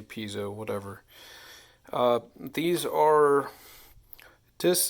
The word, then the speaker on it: piezo: they normally use uh pazo some people pronounce it that way piso discs I say piso whatever uh these are